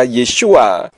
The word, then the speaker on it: Yeshua: Yodnya diganti menjadi iota, sehingga huruf Yod, Sin, Waw, Ayin yang seharusnya dibaca Yeshua diganti dalam kitab berbahasa Yunani menjadi iota, eta, sigma, omikron, upsilon.